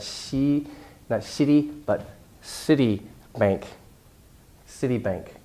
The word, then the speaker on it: Citibank: you a city not see that city but City Bank City Bank it's really important and 14 I